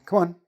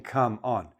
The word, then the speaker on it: come on: We're not saying: "Come on". We don't separate. We make the first word very small, and we put a little bit more stress on the second part of it; on the second syllable,